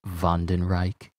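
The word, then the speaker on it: Wandenreich: one didn't Reich uh it's actually pronounced vondenreich you know it's a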